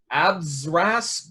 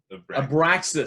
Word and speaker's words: Abraxas: So number 10, I believe it's pronounced Abzras, Guardian of the Universe. Abraxas? Abraxas. Abraxas. Yes, thank Is you.